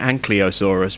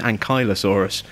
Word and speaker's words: Ankylosaurus: I keep calling it Ankylosaurus, but it's not, it's Ankylosaurus. I always had the L and the Y the wrong way round.